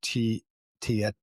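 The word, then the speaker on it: Tietoevry: There's a Finnish IT cloud provider that they hit called, I don't even know how to say the word, Tietorevry.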